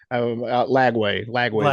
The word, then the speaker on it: Lagway: believe it's pronounced. Yeah, yeah. Well, Ladway, Lagway is his Lagway, last yeah.